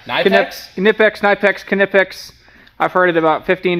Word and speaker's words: Knipex: can't even the the something repliers it's Knex knipex Knex knipex I've heard it about 15 different ways all